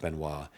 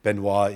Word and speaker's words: Benoist: Monkey Mind by JF Benoit, it's so, so great. By the way, Benoit is spelled Benoist.